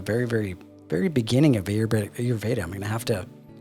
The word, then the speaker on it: Ayurveda: Now I know probably I'm just touching the very, very, very beginning of Ayurveda.